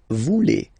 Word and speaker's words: voulez: Same thing here, classic ending, E-Z for vous, but then you pronounce it E. Vous voulez.